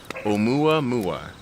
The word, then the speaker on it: Oumuamua: is could possibly be the space probe that has left our solar system back in 2017, known as, and this is the pronunciation, Oumuamua.